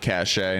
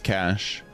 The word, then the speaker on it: cache: It's not cashache. No, it's not. It's cash.